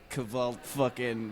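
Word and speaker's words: kvlt: likes you know like kaval black metal oh really yes still pronounced cult it's just made to look more evil but yeah that's the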